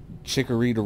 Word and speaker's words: Chikorita: random besides everyone knows chikorita rhymes with margarita bro I would never